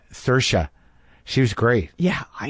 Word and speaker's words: Saoirse: But like working with Greta and working with, how do you pronounce her name? Saoirse.